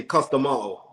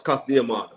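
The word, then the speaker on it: Cus D'Amato: repeat the pronouncing but in the uk they say custom all but it's not it's cast diamond cast diamond oh there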